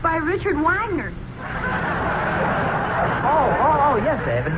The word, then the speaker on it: Wagner: says it's by Richard Wagner oh oh oh yes a naturally I know that particular piece is by Vagner that that's pronounced vogner son I simply said